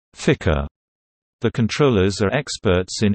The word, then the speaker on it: FCR: the flight control room FCR pronounced Ficker the controllers are experts